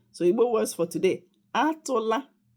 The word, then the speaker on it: atụla: words all right so Igbo words for today atụla egwu that means don't be afraid.